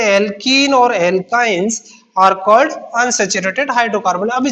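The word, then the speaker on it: alkynes: में प्लस आएगा और एल्कीन स्पेलिंग को देखिए ANE और ENE और YNE, इससे आपको थोड़ा डिफरेंस साउंड में डिफरेंस है, एल्केन्स, एल्किन्स और एल्काइंस।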